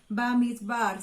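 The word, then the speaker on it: במדבר: Bamidbar se pronunciaría en hebreo.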